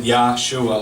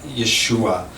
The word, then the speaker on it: Yeshua: about if you went to them and said Yahshua like that it just doesn't make any sense